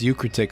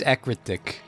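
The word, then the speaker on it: Ecruteak: I don't think it's Eucratic City, Matt. Yeah, it is. That's not how that's spelled, though. Let's check it. It's Ekritic. It's EU, so it's you. No, it's EC. Oh, Ekritic. Yeah, you're right.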